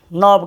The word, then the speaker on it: know: के लगा दिए, तो नॉब कहते हैं उसको, नॉब कहते हैं। ठीक है, के साइलेंट हम लोग देख रहे हैं अभी, के साइलेंट देख रहे हैं हम लोग।